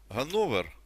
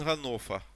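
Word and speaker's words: Hannover: великі проблеми все життя знали що є місто гановер Ні він ганофа ганофа це був шок для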